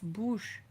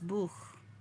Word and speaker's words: Buch: Das Bush. Das Bush. Das Buch. Das Buch. I think it's pronounced Das Buch.